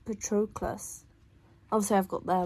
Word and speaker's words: Patroclus: I want to say Patroclus, like the early forms of humans, but it's Patroclus.